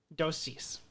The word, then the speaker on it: dosis: Dosis.